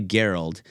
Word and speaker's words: Garold: Because Garold is not a very common name. I'm sure most of the people listening probably, Garold, that's pretty cool. Well, it's actually Garold, and I've only met 2 other ones in the world.